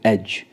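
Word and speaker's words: edge: rule क्या कहता है रूल कहता है यदि जी से पहले डी दे रखा हो तो डी साइलेंट रहता है जैसे एच ई डी जी ई यहां पे जी से पहले डी है तो यहां पे डी साइलेंट रहेगा हम कैसे इसको प्रोनाउंस करेंगे एज सीधा प्रोनाउंस कर देंगे एज एज का मतलब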